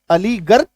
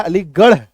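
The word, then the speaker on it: Aligarh: पर जाएंगे direct direct तो इसका उच्चारण देखिए क्या निकल के आएगा अली ग रह अलीगर लेकिन ये क्या अलीगढ ड़ है ना तो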